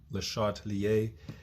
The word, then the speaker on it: Le Chatelier: It's pronounced Le Chatelier.